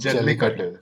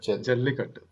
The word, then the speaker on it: Jallikattu: I'd say the second one would be I'm sorry, how do I pronounce this? Jallikattu. Jallikattu. Jallikattu.